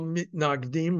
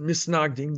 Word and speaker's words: mitnagdim: And it was opposed, and the opposition were called mitnagdim, or the way they have pronounced it, misnagdim, those who were opposed.